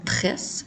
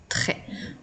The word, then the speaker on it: très: très attention le mot très s'écrit avec une lettre muette à la fin donc ce n'est pas le mot tresses mais bien le mot très on peut l'utiliser dans